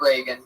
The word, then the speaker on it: Regan: That's spelled Patregan. Not like Ronald Reagan. It's announced like Ronald Reagan. Reagan, but there's no A in that.